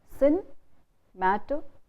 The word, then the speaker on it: cinematographer: And the person who does this camera work in film is called a cinematographer. So very often we say cinematographer. We trip over that because we are not putting the stress on the syllable before the suffix. So you break up the syllables into cinematographer.